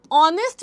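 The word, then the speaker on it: honest: ऑनेस्ट में आप लोगों का ये एच होता है साइलेंट। एच हमारा है इधर साइलेंट।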